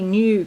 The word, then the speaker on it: knew: knew him and um it's funny new k-n-e-w or n-e-w new it's pronounced the same so this week something's